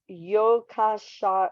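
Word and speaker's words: Jukkasjärvi: in the village of Joker charvi pronounced yokasha yokos Yari okay try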